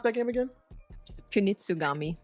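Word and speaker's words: Kunitsu-Gami: How do you pronounce that game again? Kunitsugami.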